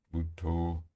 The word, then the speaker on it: Buddho: Ao expirar, vamos repetir interiormente ou dizer interiormente Bud, a primeira sílaba da palavra Bud, Buddho, B-U-D, ao expirar.